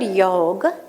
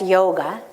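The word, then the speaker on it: योग: The word yoga in Sanskrit, what we say in the West, yoga, but actually is pronounced yog.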